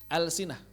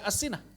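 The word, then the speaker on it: ألسنة: Alsinah enggak dibaca asinah. Alsinah karena berasal ke atas lisan begitu.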